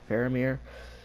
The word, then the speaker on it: Faramir: Faramir, Boromir's brother.